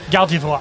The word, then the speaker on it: Gardevoir: Real way to pronounce it. Yeah. Gardevoir. Are you guys going kind of as fast as you can, or like as you get closer, Yes.